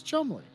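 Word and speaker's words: Cholmondeley: pronounced it is pronounced chumley i know i asked you that six months ago but i'm asking you again it is chumly it is chumly yes everything is silent okay you saved me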